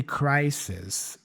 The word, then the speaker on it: crisis: So in this case, she just basically emphasizes that middle S in crisis.